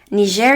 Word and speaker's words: Niger: Niger is actually pronounced as Niger, according to my friend from Niger. I used to call it Niger, and he was very offended. So I'm going to stop. It's Niger because it's French.